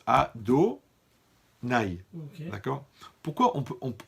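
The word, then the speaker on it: Adonaï: temps ça va ok maintenant le nom yavke on le prononce à do naï d'accord pourquoi on peut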